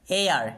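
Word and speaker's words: heir: মানুষ ঠিক তেমনি করে এয়ার এটা আবার অনেকে হেয়ার উচ্চারণ করে এটা হেয়ার নয় এটা এয়ার উচ্চারণ করতে হবে এইটা সাইলেন্ট আছে তো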